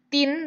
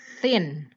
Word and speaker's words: thin: Jadi ini bukan bacanya tin, bukan T yang ini, Bedakan T yang ini dengan ini. Ini juga T gitu ya, tapi T-nya harus menggigit lidah. Thin.